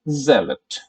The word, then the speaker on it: zealot: Our third word is zealot. Our third word is zealot. Zealot. Right? Zeal के ऊपर आपको emphasis डालना है.